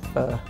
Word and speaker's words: pho: Vietnamese pho, pronounced pho, with turkey.